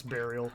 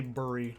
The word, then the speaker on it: burial: to the burial grounds no it's burial i know how to say it properly i say mountain um but i don't say burry unfortunately what a shame my